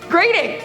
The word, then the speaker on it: Groening: This sounds so weird, but it's Groening, and I have to